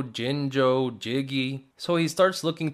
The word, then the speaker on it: Jinjo: I'm hoping he's gonna say yinyo instead of jinjo, but he also pronounces it perfectly, jinjo.